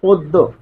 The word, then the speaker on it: পদ্য: আর জফলা থাকার কারণে জফলা যার সাথে থাকবে সে দুইবার আসবে। দিতে হবে। ফলে পদ্য যেহেতু এখানে থেমে যাচ্ছি তাই এখানে হসন্ত দিতে হবে ফলে উচ্চারণ হচ্ছে পদ্য ঠিক এরকমভাবে অন্য দেখুন